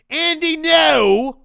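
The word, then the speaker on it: Andy Ngo: Andy, no. That's how you say his name.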